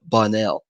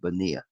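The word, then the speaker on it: Bonnell: buros all righty and it's a Barry but bonell when you when you get to him it's not it's not the Bania all righty thank you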